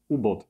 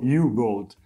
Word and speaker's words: U-Boat: stosujemy dowolność, bo oczywiście na polskim rynku zdecydowanie preferujemy nazwę brzmiącą "Ubot", czyli fonetyczna wymowa. Natomiast w komunikacji międzynarodowej możemy spotkać też oczywiście niepolską nazwę, tylko "jubołt", więc jedna i druga jest poprawna.